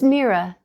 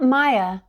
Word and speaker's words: Mira: "My name is Mira, not Maya," she told Hayden proudly and explained how to pronounce it properly.